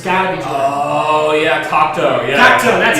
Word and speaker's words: Cocteau: Oh yeah, Cocteau. Yeah, Cocteau, that's how you pronounce it.